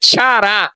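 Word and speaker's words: χαρά: Segundo fruto, alegria ou chará é a pronúncia no grego.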